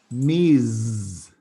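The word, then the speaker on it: Ms: in the united states we have miz used to refer to a woman you can say why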